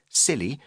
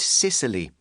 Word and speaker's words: Scilly: It may be pronounced the same as silly with a silent C, but giggle at your own peril. Nor is it Sicily, which has considerably more takeaway pizza outlets, mafia, and donkeys.